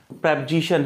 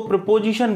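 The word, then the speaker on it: preposition: प्रेपोजिशन है। ध्यान रखना, कई लोग इसको प्रीपोजिशन बोलते हैं। प्रीपोजिशन नहीं बोलना है, इसका करेक्ट प्रोनाउंसिएशन क्या है? प्रेपोजिशन।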